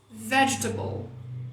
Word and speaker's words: vegetable: Então, resista a quê? A vontade de falar table. Se você resistir à vontade de falar table e colocar a sílaba tônica no V, que é onde ela está, rolou. Vegetable. É isso. Colocar a sílaba tônica no V e não falar table.